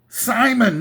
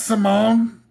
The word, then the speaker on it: Simon: My name is pronounced Simon, not Simone.